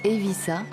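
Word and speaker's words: Eivissa: signifie l'île des pins sa capitale dont le nom se prononce en catalan et vie ça se situe au sud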